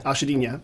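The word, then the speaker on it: Achadinha: I just got corrected. Actually, Ashadina. I always see the farmer's market. I'm like, oh, it's Agadina. So whatever the way you just said it, the second time. Ashadinha.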